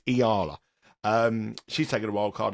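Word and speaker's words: Eala: A player that's Iala. I get stick for how to pronounce it. It's Iala.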